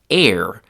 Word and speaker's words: er: That root is air which is pronounced like the word air like the air that a person breathes but it's written differently and it has a different meaning.